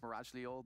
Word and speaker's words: Mirajlior: last week, and you know, I very briefly spoke to Mirajlior, which apparently, you know, it is pronounced Mirajlior.